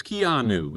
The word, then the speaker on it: Keanu: I was saying Keenu or something. It's Keanu.